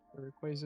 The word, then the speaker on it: Rayquaza: Rayquaza is the correct way to say it, and I've been saying it correctly for a long, long time.